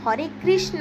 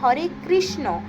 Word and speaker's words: হরে কৃষ্ণ: তো এরপরেও বলে দিচ্ছি হরে কৃষ্ণ নয় হরে কৃষ্ণ মহামন্ত্রটি হবে হরে কৃষ্ণ হরে কৃষ্ণ কৃষ্ণ কৃষ্ণ হরে হরে হরে রাম হরে রাম রাম রাম হরে হরে।